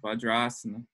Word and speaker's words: vajrasana: in sanskrit but you make it a long a when you combine short a and long a it's a long a vajrasana right why they change